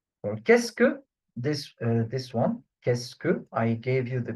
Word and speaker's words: qu'est-ce que: So, for qu'est-ce que, this one, qu'est-ce que, I gave you the pronunciation here, how it is pronounced, because some of the students may find it really, really hard.